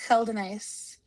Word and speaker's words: Geldenhuis: It's pronounced Gelace. Okay. G say that again. Gelenhase.